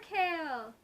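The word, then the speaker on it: Chaol: It's spelled C-H-A-O-L. I'm pretty sure that the pronunciation for that is Kale. Pretty sure.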